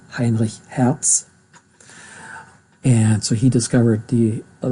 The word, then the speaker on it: Heinrich Hertz: I'm sorry, I pronounce it correctly, German now, Heinrich Hertz.